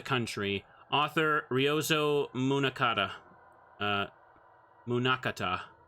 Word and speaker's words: Munakata: Uh, Munakata. Munakata. Yeah, that's how you say it.